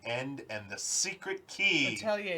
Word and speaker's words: Atelier: Atelier is the archaic pronunciation. Atelier. Yeah, now we say Atelier. Yeah. I'm just kidding. I think it is Atelier.